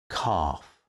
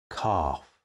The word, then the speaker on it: calf: spelled a r but we do have some exceptions how for example do you spell calf calf that's c a l f i'm sure many of